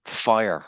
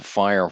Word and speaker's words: FHIR: healthc care along with fire so fhir is pronounced fire which is like kind